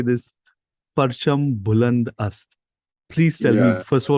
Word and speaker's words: Parcham Buland Ast: So tell me about how, and give me a second when I say this, Parcham Buland Ast.